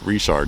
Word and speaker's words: Richard: So, situated here in the very small town of Richard, Louisiana, which is essentially the name Richard, but we call it Richard, or we pronounce it Richard down here, which is actually kind